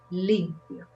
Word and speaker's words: limpio: So the accent is in the first syllable, limpio. Because if you put the accent in the end, it sounds like the verb limpiar in past. So when you say limpio, it means he cleaned or she cleaned.